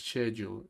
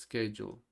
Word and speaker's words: schedule: La pronunciación británica es schedule y la estadounidense es schedule.